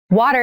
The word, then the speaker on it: water: pronunciation of this word that first T is actually reduced it sounds more like a D in fast speech water is important to our